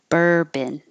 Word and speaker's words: bourbon: subtle hustle hassle muscle Urban it looks like a lot of O's but there's no o sound at all bourbon synergy synergy and broccoli